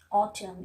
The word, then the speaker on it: autumn: And you know, normally we are not pronouncing letter N if the position of the letter N is just after the letter M. The examples are here: column, dam, solemn, autumn. If you see carefully, all